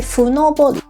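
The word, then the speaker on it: 五六: 呢個叫做五六，但係佢讀音咧就梗係唔係普通嘅五六啦，即係歌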